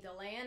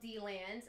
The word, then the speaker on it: DeLand: Come to find out, the natives of D-Land actually pronounce it D-Land, and everyone else pronounces it DeLand. I didn't know that. Because it used to be spelled D-E-land.